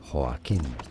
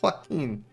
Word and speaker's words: Joaquin: Well, in Spanish, it is said as Joaquin. Joaquin. Joaquin. Is in Spanish, it's a Spanish name, I guess that makes sense. Syllable, because normally there's an accent on the I there in English. Guys, that settles it. It's Joaquin. Joaquin. It's Joaquin. Like Juan.